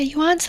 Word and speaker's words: yuan: But yeah, yuan's the currency. Oh, is that not how you say it? It's one syllable, yuan.